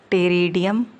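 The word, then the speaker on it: Pteridium: Example होगा Dryopteris टेरिडियम, Dryopteris और टेरिडियम, P silent है, टेरिडियम और टेरिस, अगेन P साइलेंट है, टेरिस।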